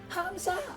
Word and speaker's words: Hamza: Hamza. I got it right. Uh, what's a Hamza? Is that a new kind of pizza? No, no. Hamza. The second H is implied. Different twist on the syllable.